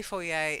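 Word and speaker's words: foyer: yay oh yeah no we say four yay it's lit posh but because it comes from the French okay you get that a sound then the next one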